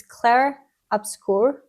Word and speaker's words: Clair Obscur: I think first of all I mispronounced it's Claire obscur based on what she just said.